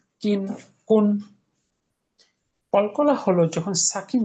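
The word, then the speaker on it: ك: Calf, উচ্চারণটা কা। কোথা থেকে? জিহ্বার গোড়াটা একটু সামনে বাড়িয়ে তালুর সঙ্গে লাগিয়ে।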